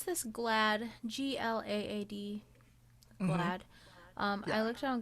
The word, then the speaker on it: GLAAD: Do you pronounce this GLAAD? GLAAD.